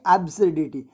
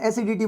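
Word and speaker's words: absurdity: उनको बोलना एसिडिटी नहीं, एब्सर्डिटी। समझें? थोड़ा प्रोनाउंसिएशन भी सही रखना। कहीं आप एब्सर्डिटी की एसिडिटी बोल रहे हो तो एसिडिटी नहीं बोलना, ठीक है?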